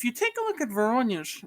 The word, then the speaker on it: Voronezh: Voronezh. There you go. Voronezh.